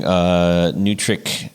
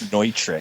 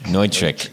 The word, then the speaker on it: Neutrik: So you mentioned on the site that you're using Nutric Connect. Is that how you say it? That's the way I really want to say it, but I think the proper pronunciation is Neutric. Neutric.